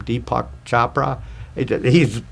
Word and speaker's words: Deepak Chopra: One of my favorite people is, how do you pronounce his name? Deepak Chopra.